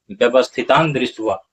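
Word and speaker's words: व्यवस्थितान्दृष्ट्वा: होगा, व्यवस्थितान जोड़ दृष्टवा, व्यवस्थितान जोड़ दृष्टवा, तब क्या होता है, व्यवस्थितान दृष्टवा।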